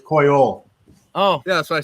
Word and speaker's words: Coyol: Is it La Vega coil, is a what? La Vega, No, what's the second part? Vega. No, coil. That's the third part. Wait, Alec, how is it pronounced coil? It's Coyol.